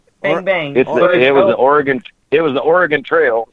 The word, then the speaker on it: Oregon: You can't even say it right. It's Oregon. Oregon. I'm in the mood to say Oregon. I don't know why. Is it Oregon or Oregon? Oregon. It's gun.